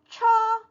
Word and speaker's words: 车: 자동차 할 때 차라는 게 중국어로는 처, 이렇게 발음이 되어지고 있어요.